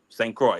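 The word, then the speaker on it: St. Croix: you say C Cy St Cy how you spell that a DOT c o iix St Croy oh okay okay okay okay I got you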